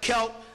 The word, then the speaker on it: Celtic: pits these were called Celtic people it's spelled c l t they spell it Kel these are Irish the